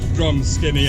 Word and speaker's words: Drumskinny: So we're nearly at Drumskinny Stone Circle, and despite Marianne laughing at my pronunciation of the name, it is called Drumskinny, I would like to just add, for the people out there officially.